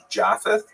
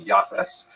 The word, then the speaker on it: Japheth: He has a son named Japheth. In the Ashkenazi pronunciation, that would be Yafes.